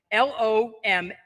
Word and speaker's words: Lombardi: hawk Financial is our guy and uh Joseph Lombardi now if it was spelled how would you say this Suzanne l-o-m-b-a-r-d-i how would you pronounce it die no hey all right Lombardi